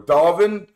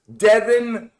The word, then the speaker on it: Devin: Or Devin or Dalvin, what the heck? My name is pronounced Devin. Devin.